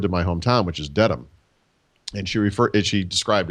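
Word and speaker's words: Dedham: the word Dam but she said it as deadham and so I raised my hand and I said excuse me uh actually and this was in Albuquerque New Mexico she said I said uh actually it's pronounced Dam not deadham and what did she say she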